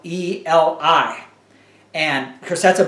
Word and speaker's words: Eli: pronounce it Eli but he pronounced it as a Hebrew he pronounced it as Ellie uh so Alexander skorby